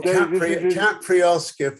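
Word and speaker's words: Caipiroska: Or Capriosca for those that like to pronounce.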